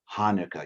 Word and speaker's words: Hanukkah: melissa taught us how to say the word hanukkah you guys can all say it say it